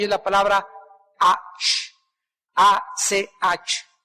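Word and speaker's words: אח: Investigué la palabra en el hebreo y es la palabra ach, A-C-H. Aj se pronuncia.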